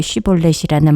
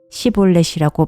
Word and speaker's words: 쉬볼렛: 그가 에브라임 사람이 아니라고 하면 그에게 쉬볼렛이라는 말을 발음하게 하였다. 그러나 그가 그 말을 제대로 발음하지 못하고 시볼렛이라고 발음하면 길르앗 사람들이 그를 붙들어 요단강 나루에타에서 죽였다.